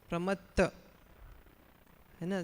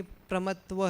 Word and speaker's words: प्रमत्त: प्रमत्त न अप्रमत्त है, न प्रमत्त है, न कि प्रमत्व है। भाव तो लगभग ये हो जाता है, लेकिन जो जैसा उच्चारण है ऐसे करना चाहिए।